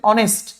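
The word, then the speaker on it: honest: উচ্চারণটা হচ্ছে হর্স কিন্তু এখানে তো আমার হ এর উচ্চারণটা হচ্ছে না এখানে হচ্ছে অনেস্ট আওয়ার অনারেবল এটাকে আমরা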